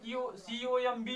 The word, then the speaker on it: comb: दूसरा जैसे COMB है तो बी नहीं पढ़ेंगे, क्योंकि बी है जो